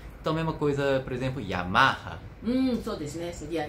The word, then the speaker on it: Yamaha: Então, mesma coisa, por exemplo, Yamaha. そうですね。seria Yamaha。 Toyota. Toyota。 Honda. Honda。 Suzuki. Suzuki。 Então, nós temos uma clara tendência a acentuar a penúltima sílaba, né, das palavras de origem japonesa.